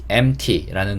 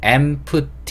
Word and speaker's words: empty: 뜻을 가지고 있어요 그리고 단어는 보기에는 empty m2t 이렇게 발음할 것 같은데 가운데 있는 p는 발음하지 않습니다 무금이에요 그래서 MT MT 이렇게 발음 된다는 거 그래서 발음하실 수